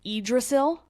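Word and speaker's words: Yggdrasil: it's also called a world tree and it's pronounced idrasil and in Norse mythology this book is an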